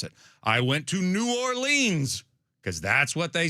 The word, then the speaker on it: New Orleans: New Orleans is the way to pronounce it. We will even go with nins. You can go nins, but New Orleans, you got to go easy on the lean.